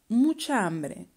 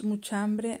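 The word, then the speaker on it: mucha hambre: you one pronunciation tip muchambre the way we say it it is as if it was just one word muchambe trying to pronounce muchambre as if it was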